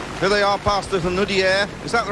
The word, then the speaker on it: Hunaudières: Here they are past the Hunaudière. Is that the right pronunciation? Yes, Les Hunaudières.